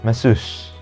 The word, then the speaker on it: masseuse: Ini bacanya adalah masseuse.